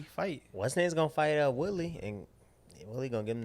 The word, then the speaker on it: Woodley: What's name's gonna fight Woodley and Woodley gonna give him the hand. Is it Willie?